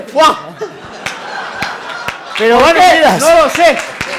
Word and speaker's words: foie: Se escribe foie y se dice fuá.